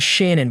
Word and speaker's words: Shannon: Pronounced Shanann by friends and Shannon by her family, she grew up with her younger brother, Frank Jr., or Frankie, in Aberdeen, North Carolina.